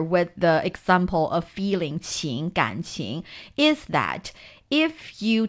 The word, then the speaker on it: 情: The meaning of it is not important, but you see the resemblance of the pronunciation 青 and 情, right?